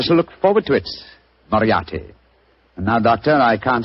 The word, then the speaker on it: Moriarty: Dear me, I have so much trouble with my name. People will either misspell it or mispronounce it. I'm afraid I'll have to begin calling it the way it looks. M-O-R-I-A-R-T-Y. Moriarty.